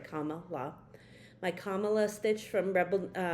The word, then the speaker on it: Kamala: I finished my Kamala, gotta make sure I say it right, Kamala.